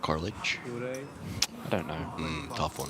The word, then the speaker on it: Carlich: Do you think it's Carlick like Garlic, yeah, rhymes with- like garlic, yeah. Like garlic? I think so. Not Carlich.